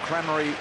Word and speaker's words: Crameri: And we're told Crameri is the correct pronunciation, Jared, direct from his mother.